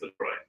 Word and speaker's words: LaCroix: It is technically pronounced LaCroix.